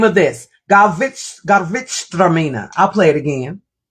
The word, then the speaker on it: Gewürztraminer: It's Gewürztraminer. That's the name of this. Gewürztraminer. I'll play it again. Gewürztraminer.